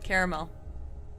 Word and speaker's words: caramel: Caramel. Toucan or toucan. I say toucan, but that's also not spelled the same. It's not the same. It's caramel, right? It's 3 syllables. It's caramel.